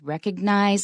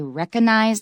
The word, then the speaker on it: recognize: There's a G, it should be pronounced, so it's recognize. Recognize. Just like the word suggest, not suggest in American, suggest, recognize. Remember to say those G's.